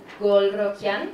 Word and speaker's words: Golrokhian: So it's Golrokian. Perfect. from Iran, so it rhymes.